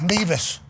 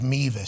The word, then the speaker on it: Mevis: I think it's pronounced Beavis. I think the reason why I thought Beavis, I think it is Mevis.